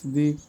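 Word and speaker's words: though: Imagination means কল্পনা celebration means উদযাপন direction means দিক বা নির্দেশনা কমিউনিকেশন মিন্স যোগাযোগ ইংলিশ ওয়ার্ডে আই এর পর জিএইচ এর উচ্চারণ হয় না ইংলিশ ওয়ার্ডে আই এর পর জিএইচ এর উচ্চারণ হয় না।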